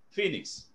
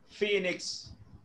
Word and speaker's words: phoenix: That's how it is pronounced, phoenix. Right, phoenix.